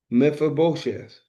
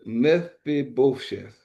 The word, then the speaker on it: Mephibosheth: It's Meph, Aibos, Heth, Sheth, Bosheth, Mephibosheth. That's the best way I'm saying.